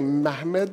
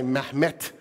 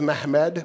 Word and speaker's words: Mehmed: I'm going to say Mehmed II. And the reason is because that's how the Turks pronounced it then. I know there's been this, some Turks now say Mehmet with a T, but at the time it was Mehmed, which, by the way, is still spelled the same exact way, right? So it's just a different way of pronouncing the name Muhammad.